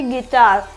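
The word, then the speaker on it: guitar: कोई सा भी वल आ जाए तो यू साइलेंट होगा जैसे कि गिटार क्या हो जाएगा गिटार जो वुवल साउंड है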